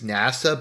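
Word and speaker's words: 星空: about written Japanese, but apparently the pronunciation of names is different from how the names are written. So his pronounced name is NASA, but it's written as Starry Sky, which I found kind of interesting.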